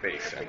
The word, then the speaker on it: Basin: Basin or Basin. Probably Basin. It's Basin. Tomato, tomato. No. You pronounce it Basin.